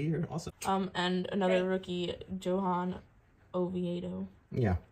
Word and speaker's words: Johan Oviedo: And another rookie, Johan Oviedo. Yeah, they probably pronounce the J like that. Oh, is it Johan?